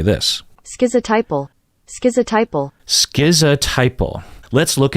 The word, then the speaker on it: schizotypal: that first syllable right some people pronounce it skit like skits a Tipple you hear that t in there schizo Tipple or ski without a